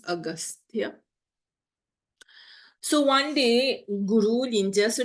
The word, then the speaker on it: Agastya: Ou gete comment on prononce li pour capable écrire li, but this is how we pronounce Agastya.